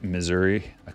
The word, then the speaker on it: Missouri: It's pronounced Missouri. Missouri. That's how it's pronounced.